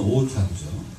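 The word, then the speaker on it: 大田区: 한자로는 대전구인데 일본 발음으로는 오타구죠. 이 오타구에 가보면 크리에이티브 타운이라고 하는 게 있습니다.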